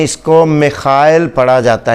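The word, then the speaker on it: Михаил: तो रशिया में इसको खे करके पढ़ते हैं, तो मिखाइल।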